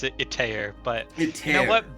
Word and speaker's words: Itaer: I usually pronounce it Itaer, but Itaer.